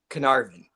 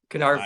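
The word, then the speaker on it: Caernarfon: It's Canar. It's like K R and then N A R N A A R and then it's like VN. Canarvin. Canarvin.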